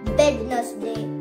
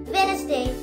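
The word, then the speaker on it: Wednesday: हमारा next word is, इसे आप लोग तो कहते हो वेडनेसडे, वेडनेसडे, वेडनेसडे। नहीं, इसे हमें वेडनेसडे नहीं कहना, हमें इसे कहना है वेनेसडे, वेनेसडे, वेनेसडे, वेनेसडे, वेनेसडे। इसमें हमारा डी साइलेंट है, वो भी सो रहे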